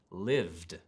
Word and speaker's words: lived: It might even be a pronunciation mistake, I'm not sure, but I really just couldn't hear the D sound in the word lived.